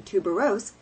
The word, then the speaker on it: tuberose: insist he offensively says on making tuberose a tri-syllable always as if it were